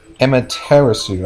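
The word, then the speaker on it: Amaterasu: get two extra cards Emma terasu I that's how you pronounce it um I very rarely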